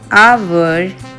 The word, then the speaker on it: hour: An hour. H is also silent.